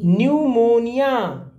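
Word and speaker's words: pneumonia: एनी मन एनी वन न्यूमोनिया famous word है न्यूमोनिया शुरू क्या से होता है पी से आप ये गेम भी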